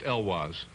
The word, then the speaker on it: Heloise: Heloise. Always pronounced Elwaz. Well, always pronounced Elwaz by those who know and love me.